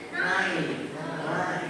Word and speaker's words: knife: Jadi K-nya itu tidak dibaca, jadi hanya knife.